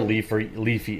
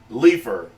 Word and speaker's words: Leafy: YouTube permanently bans controversial creator Leafy is here. Couldn't even get his name right. Leafer. Who is Leafer?